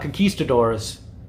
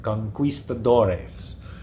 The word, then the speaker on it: conquistadores: Not concisadors, but he makes sure to pronounce it like that. Conquistoadores, which is my new favorite word now.